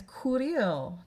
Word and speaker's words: courir: Next one is courir, to run. And it's a C followed by, in this case again, an OU. With that O in there makes it the hard C.